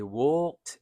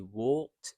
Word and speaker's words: walked: They walked and talked. So although it's an A here, we pronounce it as same as this O. We walked and talked.